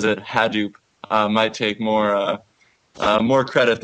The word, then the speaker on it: Hadoop: It depends on who you talk to. Hadoop is a very common pronunciation. Hadoop is what the project founder calls it, and that's what his son says. And Hadoop is actually named after his son's yellow stuffed elephant.